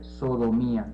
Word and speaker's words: sodomía: How do you say that, Julio? Se dice sodomía, igual. Sodomía.